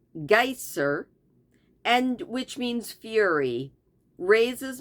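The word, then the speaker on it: Geysir: six fathoms the geyser a word the icelanders pronounce Geer and which means Fury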